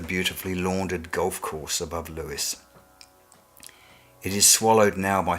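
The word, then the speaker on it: Lewes: in the county town name of Lewis whether you correctly pronounce it Lewis will read it to rhyme with Hughes the sound of wet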